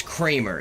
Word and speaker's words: Kramer: But yeah, no, it's Kramer. It's I know it's spelled like creamer, but it's pronounced Kramer because it's German and it's of different religion descent.